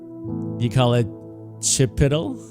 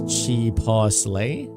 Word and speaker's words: chipotle: Brandon, you call it chipiddle? The kids. Like button is pumping. There you go, Louis. When you first came to US, you asked a friend how to pronounce it. He says chipotle.